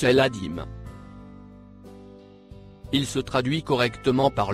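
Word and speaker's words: العظيم: Il se prononce El-Adim.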